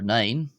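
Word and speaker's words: naoi: on to the number nine and it's pronounced ni ni not ni as in like a your knee um uh in English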